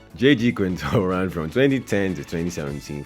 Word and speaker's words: J.G. Quintel: Do you know I always pronounce his name as J.C. Quintel? J.G. Quintel ran from 2010 to